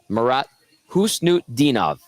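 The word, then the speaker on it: Marat Khusnutdinov: Shaw the former Oiler morat hnut dinov it doesn't look that way when you read it but that's how you say it according to the NHL's pronunciation guide on defense for mini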